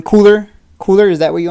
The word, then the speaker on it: KULR: to time bottoms he's still saying it wrong cooler cooler is that what you want me to